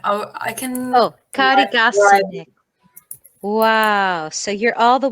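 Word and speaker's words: Karigasniemi: Sorry, how do you pronounce the place? Karigasnie. I can. Oh, Karigasnie.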